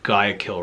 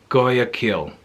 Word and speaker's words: Guayaquil: guy kill gaia kyo i don't think i said gaia kill right how do you say gaia girl guayaquil goya kill guayaquil goyakill where we were using the